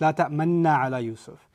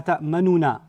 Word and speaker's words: تأمنا: So it's la ta'manna ala Yusuf. It's not ta'manna ala Yusuf. And that's because it's fusing a dhamma inside it.